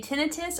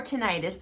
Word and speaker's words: tinnitus: You can say tinnitus or tinnitus. Let's get that out of the way. You can pronounce it either way.